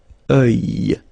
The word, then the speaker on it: œil: Strange combination of vowels here, okay, and then you will get the sound and then y, oeil, alright, and it's masculine, by the way.